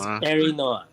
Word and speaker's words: Arinoa: It's Arinoa. Aranoa. Yeah, Arinoa is a combination of Arid and Reno.